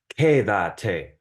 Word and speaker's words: quédate: And so since it's on the second to last syllable, the emphasis, I mean, then there is no accent mark because it's just quedes, quedes. But in this case, it's quédate. And so since it's the third to last syllable, that's unusual. So you have to have the accent mark.